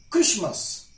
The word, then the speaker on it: Christmas: Hashem not has ten soften not soften soften Christmas mortgage asthma not as common as ma and